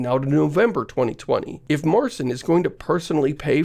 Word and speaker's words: Marcin: The CEO of CD Projekt Red is Markin? How do you pronounce this name? Welcome to the stage, the joint CEO of CD Projekt Red, Marcin Lewinsky.